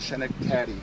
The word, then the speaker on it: Schenectady: York, and they corrected me when I said Schenectady.